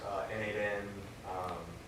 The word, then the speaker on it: n8n: Officially, it's N8N. Right. People, you just call it N8 or Yeah.